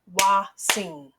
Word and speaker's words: hoatzin: now let's Clap the syllables the way it's pronounced waing when I segment the word wat I hear